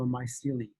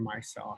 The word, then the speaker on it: micelle: All right, so bile salts surround the fatty acids and monoglycerides to form a water-soluble particle called a myceli, or micelle, however you want to pronounce it.